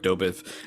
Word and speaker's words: Dobeck: Zach, you mentioned earlier about the share of Dobeck, and did I say that right?